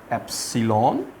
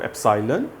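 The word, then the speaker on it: epsilon: ये जो आपको सिंबल नज़र आ रही है इसको आपने ई नहीं पढ़ना, इसको आप पढ़ेंगे दिस इज़ एप्सिलॉन, और या इसको एप्साइलन पढ़ते हैं, डिफरेंट प्रोनाउंसिएशंस आप कह सकते हैं।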